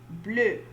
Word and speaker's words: bleu: All right, so we have répétez, bleu, bleu. For blue, they both the masculine and feminine are pronounced alike. They have the same pronunciation.